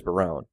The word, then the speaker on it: Barone: It is Barone, right? I usually said Baroon, but sorry. That's actually the cases of a place where the pronunciation is very inconsistent. Okay, it's just a matter of what kind of looks cool. I would have gone for an Italian Barone.